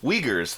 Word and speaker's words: Uyghurs: any weakers oh what what seen any what uyghurs the the the muslim minority group that xi